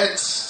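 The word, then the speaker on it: עץ: Alors, pour ceux qui notent, le mot arbre ici, en hébreu, c'est etz. Ça s'écrit E-T-S.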